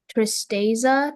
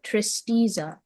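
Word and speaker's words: tristeza: Your word is Tristasa. Trista.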